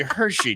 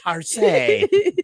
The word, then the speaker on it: Hershey: I believe it to be Hershey, dear. Oh, Hershey. I thought it was perhaps Hersey.